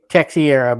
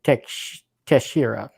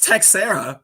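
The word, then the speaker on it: Texeira: always used to say texiera but I think it's actually teshira Maybe Johnny it's a breaking buddy I think it's Tech Sarah because former baseball player with the same name and that's how they pronounced it so I've kind of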